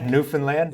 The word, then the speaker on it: Newfoundland: Yeah, Newfoundland. So that's how to pronounce it.